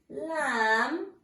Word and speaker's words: lamb: about the silent be the silent B in the word lamb we cannot hear okay it's silent the